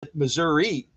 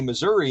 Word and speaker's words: Missouri: area and she pronounced Missouri so I I got to start I got to stop beating up folks when they say Missouri and I say Missouri because you can say it either way apparently which is kind of